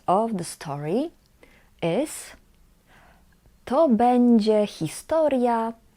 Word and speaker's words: będzie: This word we pronounce będzie. Będzie.